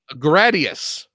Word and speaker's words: Gradius: say it like that yes which one assignment Gradius not a day.you that that's how you say